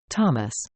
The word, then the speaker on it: Thomas: "Tomas," Tom says to the man, then corrects himself and pronounces his name the English way. "Thomas."